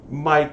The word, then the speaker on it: mic: c um and yeah it's Mike it's Mike as a microphone uh I always pronounce it Mick because I'm contrary um and also that way I mean I guess I in my head it makes sense because it means you see how it's spelled if I said Mike